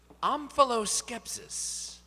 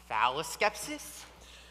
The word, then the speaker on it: omphaloskepsis: Your word is omphaloskepsis.